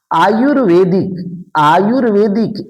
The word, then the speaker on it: आयुर्वेदिक: आयुर्वेदिक इस उड़ंतुआ र का उच्चारण इसके पहले होता है आयुर्वेदिक।